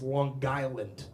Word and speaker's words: Long Island: Uh when you say long like you have to say it's and you got to hit that G. It's not a soft G. It's Long Island. Like there's the word guy in the middle.